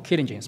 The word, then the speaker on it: Kyligence: the pronunciation is Kylin, so we used to pronounce it Kylin or Kyligence, but here we pronounce it as Kyligence. That's perfect as well. It sounds more international.